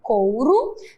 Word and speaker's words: couro: E observe que o couro termina com O, mas tem o som de U.